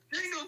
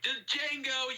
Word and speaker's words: Django: And he's like, and Billy Crash, and just like in pain, and he's just like, Django, you black son of a bitch. And then Django is like, the D is silent, hillbilly.